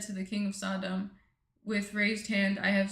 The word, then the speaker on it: Sodom: Sodom. The king of Sodom said to Abram, "Give me the people and keep the goods for yourself." But Abram said to the king of Sodom, "With raised hand I have sworn an oath